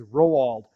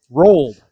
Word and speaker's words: Rowald: powell okay see my my last name is rowald and people always want to say rolled so i try i